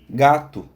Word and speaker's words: gato: Então, por isso que a transcrição fonética utiliza o símbolo de U para representar o som desse O, que falado naturalmente parece um U. Gato, neste caso, 4 letras e 4 fonemas.